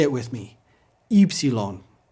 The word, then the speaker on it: Upsilon: It's pronounced like the French U.